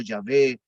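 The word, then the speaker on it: Yahvé: en el antiguo testamento son las cuatro les echa y probablemente se haya pronunciado ya ve jehová es como nosotros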